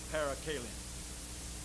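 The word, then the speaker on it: parakalein: the Lord hallelujah there's a Greek word p-a-r-a-k-a-l-e-i-n -para Kailyn I guess you pronounced The Scholar so I but I believe my pronunciation be as good as yours so we call it para Kalin that was a word that was used over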